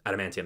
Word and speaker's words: Adamantium: Adamantium? Adamantium, that's how you say it.